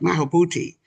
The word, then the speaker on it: Maulana Karenga: Haki, who, uh, let me say it right, Maulana Karenga.